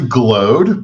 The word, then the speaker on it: Glaude: And before we continue, is it Glod or Glaud or how do you say it? Uh it's actually Glod, but um you know, it's it's a French last name and has uh different pronunciations, but I'll go with either as long as you don't call me late for lunch.